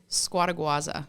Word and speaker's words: Scuoteguazza: Scuoteguazza.